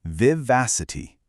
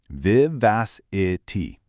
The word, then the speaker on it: vivacity: Notice how it has four distinct syllables, vivacity. Now, the absolute key here, your vowel anchor if you will, is that stressed second syllable, vas. It firmly rhymes with the word gas.